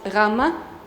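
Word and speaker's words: γάμμα: Okay, in ancient Greek it was like G, gamma, but now it's Rama.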